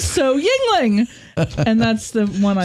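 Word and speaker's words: Yuengling: Yingling. But it's spelled differently.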